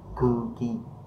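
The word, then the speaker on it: 空気: chữ khí, đúng không, không khí mình sẽ đọc là cư ki, tức là không khí mà mọi người đang hít thở á, là cư ki thôi.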